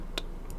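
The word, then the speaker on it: Norvrandt: Norvrand.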